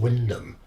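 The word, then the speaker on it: Wymondham: small town in Norfolk called Windham but it's spelled why Montana but it's shown as Windham on the map somebody new somebody found out that's how you say it and put it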